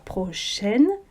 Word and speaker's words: prochaine: Un riche laboureur, sentant sa mort prochaine, prononce pas le E, ici non plus d'ailleurs, fit venir ses enfants, leur parla sans témoin.